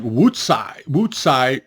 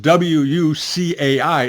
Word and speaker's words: Wucai: And whenever you see the word like Wucai, it's pronounced Wucai. It's not Wucai, it's Sai, Utsai. CAI is pronounced Utsai, is pronounced Sai in Chinese.